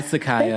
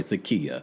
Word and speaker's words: Sakia: No, I'm going to respect people when they want their name to be pronounced a certain way. Sakia. All right. But I think Sakaya's got a little ring to it.